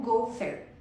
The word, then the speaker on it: gofer: Em relação eh aplicado à nossa madeira, né, de arcações como INV e INT traduziram a palavra hebraica pronunciado como goofer.